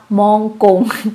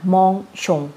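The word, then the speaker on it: mangeons: นะ คะ ทำ เอง อาจารย์ ออก เสียง ว่า มอง กง แบบ นี้ นะ คะ ซึ่ง มัน จะ แปลก ๆ ค่ะ ใส่ เอ่อ เข้า มา ปุ๊บ ก็ อ่าน มอง ชง นะ คะ วู มอง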